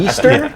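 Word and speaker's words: Ystar: It's spelled Y S T A R Easter.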